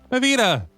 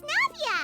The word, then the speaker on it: Navia: Navita! That's the familiar voice. It's Navia! Navia.